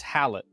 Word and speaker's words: Halot: Yes, the T is silent. No, it's Halot with a T.